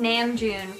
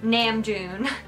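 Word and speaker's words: Namjoon: and like he said nan Joon why do they do that why would they speak in English do they have to say it like it with bad American pronunciation like NAMM Jun I don't know why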